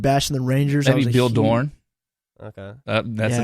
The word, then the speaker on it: Dorn: Before we started bashing the Rangers, maybe Bill Dorn. Okay, that's a name that you guys probably don't know. He was a second baseman back in Dorn. You said D-O-R-N.